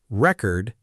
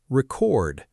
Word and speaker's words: record: First one, record and record. As a noun, record means a music album or an official document. Stress on the first part.